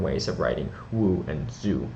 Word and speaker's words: Zhou: So those are the modern ways of writing Wu and Zhou, which I actually believe is pronounced Zhu.